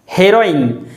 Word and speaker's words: heroine: it is simply heroin heroine there is stress on the sound hey and therefore it should be pronounced as heroine the next word is